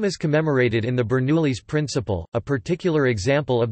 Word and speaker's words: Bernoulli: Daniel Bernoulli FRS German pronunciation, Bernoulli, the 8th of February 1700 to the 17th